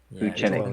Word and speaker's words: Vucenic: Vucenic.